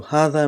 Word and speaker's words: هذا: the same thing with valleca so it is pronounced is written as zelicah but we burned the lika so haha so hatha means this so when do we use this